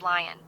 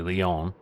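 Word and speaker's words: Lyon: Our next stop is Lion. Okay, it's actually Leon, but I'm surprised she didn't have that right.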